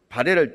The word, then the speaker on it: 발해: 중국이 발해를 중국 왕조였던 것처럼 속이기 위해 중국어 발음으로 영문 표기한 것이 포하이입니다. 해외 역사 사이트나 유명 백과사전, 외국 교과서 등에 우리식 발음인 발해보다 포하이가 훨씬 빈번하게 등장하고 있습니다.